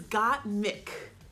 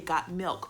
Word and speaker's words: Gottmik: I want to say Gottmik so bad because the way it's spelled, like, it doesn't have an L, but you see Gottmik and you want to say milk.